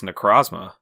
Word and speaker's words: Necrozma: It's Necrozma. Necrozma, interesting. I call it Necrozma.